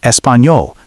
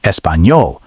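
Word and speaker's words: Español: Mistake two, pronunciation wrong. Espanol. Correct. Espanol. Listen carefully to the enya sound. It's very important.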